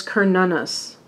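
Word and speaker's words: Cernunnos: that okay the print the correct pronunciation is this is Celtic apparently is Kern Una's also known as Hearn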